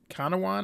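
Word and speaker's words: Canouan: C A N O U A N Kowan, I think.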